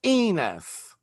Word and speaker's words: Enos: It's pronounced Enus. Well, if I say enus, you're gonna make a joke that it rhymes with another word.